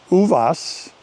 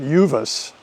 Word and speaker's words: Uvas: Uvvas. Uh, locally they pronounce it uvvice, but Uvas is the plural of UVA, which is the Spanish word for grape.